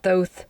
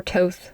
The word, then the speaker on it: Thoth: It's really kind of up for debate, but most people say it Thoth or Toth.